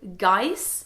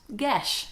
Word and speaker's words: geis: I'm gonna say Geis. Oh, pronounced Gesh. There we go. It's a Gaelic word for a taboo or curse.